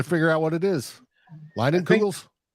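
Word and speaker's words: Leinenkugel: Lightning Kugels? It's out of focus. What is that, Yogi? Summer Shandy. Line and Google.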